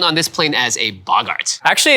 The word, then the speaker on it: boggart: It's a goblin, but however, they are known on this plane as a boggart. Actually, it's pronounced Bogart.